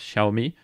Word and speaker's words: Xiaomi: dans la langue originale mais apparemment ça se prononce charmilles peut-être que je ne prononce pas exactement il faut peut-être très précises prononciation mais à partir de maintenant je dirais xiaomi pour ceux qui se